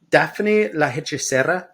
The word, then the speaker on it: Daphne La Hechicera: All right, a practical guide to Brujeria de Rancho and Daphne La Hechicera. Did I pronounce that right?